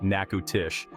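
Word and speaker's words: Natchitoches: be Charmed because we're heading to naoshi pronounced naku Tish the oldest city in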